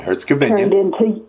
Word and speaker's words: Herzegovina: And Serbia, Bosnia, and I hope I pronounce this right, Herzegovina. Yep, Herzegovina.